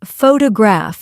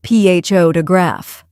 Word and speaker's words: photograph: For example, some learners say photograph instead of photograph.